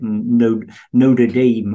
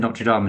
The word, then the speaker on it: Notre Dame: He's a post-liberal, Roman Catholic post-liberal professor of political philosophy at Notre Dame, or however they pronounce it in the US. I said Notre Dame, and he Notre Dame. Yeah, he corrected me.